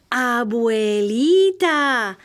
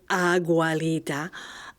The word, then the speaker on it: Abuelita: "It's Abuelita," Mommy said. She mispronounced it Agualita.